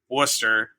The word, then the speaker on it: Worcester: Yeah, it's like um so I live in Worcester, but it's you know spelled like Wesshire.